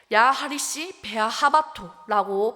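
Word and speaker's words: יחריש באהבתו: 잠잠히 사랑하시는 표현이 어 히브리어로 하리시 베아 하토네 자막에도 나와 있는데요 야하리 베아 하라고 발음한다고 합니다 여기서 잠잠이 해당하는 기본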